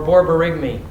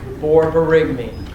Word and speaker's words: borborygmi: tachycardia Would you have paralytic ileus or borborygmi?